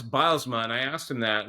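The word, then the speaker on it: Bylsma: Well, it's Bilesma. And I asked him that. That's the first thing I asked him uh when I met him for the first time. He said it's bilesma like like tiles.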